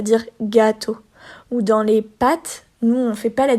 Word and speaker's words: pâte: Ils disent pâte. OK, le A est court. Alors que les pâtes qu'on mange, ils allongent un petit peu le A. Les pâtes.